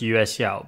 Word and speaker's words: YueXiao: okay in chinese this is pronounced uscio but i'm going to say yushao the yuxiao edm by the way i don't